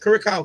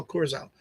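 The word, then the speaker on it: Curaçao: How you pronounce it? Curacao, Curacao.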